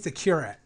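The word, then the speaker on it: Kyrat: called I don't know how to pronounce it curat k-y-r-a-t well Aaron's good with words how do you pronounce it Aaron you know okay okay cure it and what happens is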